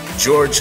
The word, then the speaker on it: Georges: Lloyd George from France Georges Clemenceau the Prime Minister and yes the S is silent and from Russia the